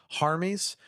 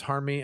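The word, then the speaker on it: Harmy: long time ago so this is actually harm ease I was mispronounced his name because he's from across the ocean from us from Europe but I think it I believe it's harm me and he has the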